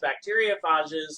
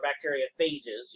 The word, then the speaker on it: bacteriophage: this is a bacteriophage bacteriophages or bacteriophages you can pronounce it either way sometimes people just call